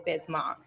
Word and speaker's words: Bismack: throws you though because it's spelled mac m-a-c-k so i feel like that's why people always get confused because when they're looking at the name they're gonna pronounce it kind of like that but it is bismarck we do it on